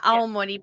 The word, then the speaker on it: Aomori: It's up in Aomori. Is that how you say it? Yeah, Aomori Prefecture.